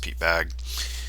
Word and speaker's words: Bagge: Pete bag's other lives I think it's pronounced Pete bag um man if you